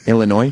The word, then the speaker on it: Illinois: ill where's he from Illinois oh okay yeah it's you know what it is it's not pronouncing that s throws me off every time I understand what's up